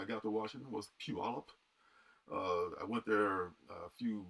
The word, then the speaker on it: Puyallup: It's the first thing I learned to pronounce when I got to Washington was Puyallup.